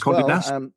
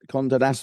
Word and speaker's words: Condé Nast: Condé Nast. Condé Nast, that's how you pronounce it.